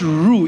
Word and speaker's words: roux: you don't even know what roux is and that it has an X at the end of that word is a French word the X is silent you can't make your